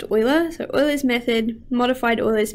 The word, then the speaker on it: Euler: So this is pronounced Euler.